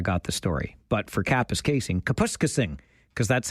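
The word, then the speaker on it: Kapuskasing: the story, but for Capis casing, Kapuska Singh cuz that's how this news anchor allegedly said it back in the day. But it is Capis Casing. Of course, it's not Capuscasing.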